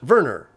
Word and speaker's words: Werner: where shock twister comments werner von kerman is german it's pronounced verner like werner von braun a german nasa rocket scientist so this is in response to my mispronunciation of warner von kerman that's the